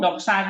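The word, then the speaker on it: δόξα: Oke nih transiterasinya Nah Lihat sekali lagi KS ini loh KS jadi eh Jadi kalau dok saa ada dok k sa sa s Nah jadi kayak misalnya bok bok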